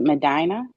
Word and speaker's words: Medina: my company is called Madina media Productions you pronounce it Medina yeah Carolina from Medina okay that's a Spanish um last name Medina